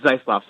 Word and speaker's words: Zeisloft: are back with zof I hope I pronounced that right from campus reform yeah thanks for having me it's zof so you were close zof good I I